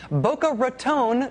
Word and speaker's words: Boca Raton: Blanch Elizabeth Devo tells us in part, quote, "Despite how the Golden Girls pronounced it, Boca Raton does not rhyme with baton.